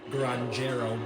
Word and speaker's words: granjero: It's not granjero because J is not pronounced with the J sound in Spanish.